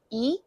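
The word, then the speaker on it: 이: It's spelled this way because in Korean the number two is pronounced e.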